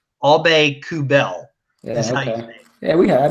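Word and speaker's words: Aubé-Kubel: it right it's people you say up Alba Kubel it's obey coup bail that's nice yeah we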